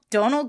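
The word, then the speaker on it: Domhnall: Donald Gleason.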